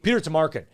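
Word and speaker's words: Tomarken: petar you're you're right your pronunciation is not quite right I think it's Peter Tamarin Peter Tamarin is what it was yeah but but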